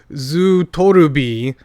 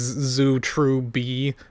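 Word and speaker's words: ズートルビ: going to listen to Zu Torubi, which is a Japanese band. The English name of that band is Zu True B, which is like the pronunciation of that.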